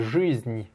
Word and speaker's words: жизнь: Tu as dit bis жизнь. Non, non, non, c'est жизнь. Ni. Il y a bien un i à la fin.